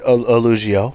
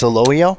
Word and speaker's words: Elogio: Well, if I was doing this, it would have been called the Elugio, but it's Elogio.